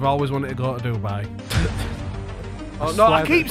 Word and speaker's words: Dubai: I wonder if she's going to go to Dubai then. I wonder. Let's give her a ring. Yeah, that Heather Jafar's right. The way that you're pronouncing it is like do and then buy.